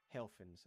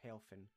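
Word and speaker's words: Helphen: The spelling of Helfin may not necessarily mean anything spelled out, but phonetically it is the same as the German word Helfen, meaning help or assistance in English.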